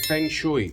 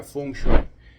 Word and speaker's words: feng shui: En español mucha gente no sabe pronunciarlo y le dice fengui, pero se pronuncia fungui.